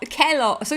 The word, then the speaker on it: Kellogg's: Is it Is it Kelloggs? It's not Calls. It's spelled. So why would you use an A? Cali logs. What? Kellogg. So it is Kelloggs.